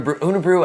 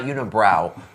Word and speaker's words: Unibroue: beauty of um under unabru i we think is how it's pronounced it's not unibrow um but i pronounce